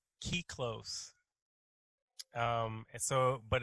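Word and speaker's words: kyklos: it's it's the it's the greek word is key close um and so but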